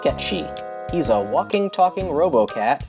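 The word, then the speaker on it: Cait Sith: Spelled like Kate Sith, but pronounced Ketchi.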